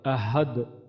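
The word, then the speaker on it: أحد: এখানে যদি আমরা কলকলা করি, আমরা যদি এখানে ওয়াকফ করি, তাহলে এখানে আমাদের কলকলা হবে আহাদ, আহাদ, আহাদ, সরি আহাদ।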